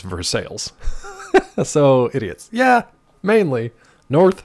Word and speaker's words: Versailles: it doesn't count but that's not how pittsburghers say it it's north ver sales in Pittsburgh it should be Versailles but it's versales so idiots yeah mainly